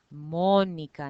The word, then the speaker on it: Mónica: So if your name is Monica, Mónica in Spanish, you put the stress on mo. You don't say Manica or Monica. We say Manica or Mónica.